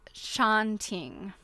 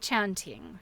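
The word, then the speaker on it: tjanting: because Okay, it's pronounced chanting. Okay, thank you. The initial TJ is pronounced like a ch. Okay, and hat. Okay, chant chanting.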